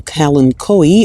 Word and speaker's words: Kalanchoe: Right next to that one, we have the Kalanchoe, or Kalancho, as apparently I've been pronouncing this thing wrong, but it's $8.97.